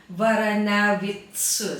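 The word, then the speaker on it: Varanavicius: So let's say if in Lithuanian you're going to pronounce it properly, my last name would be Varanavitsus.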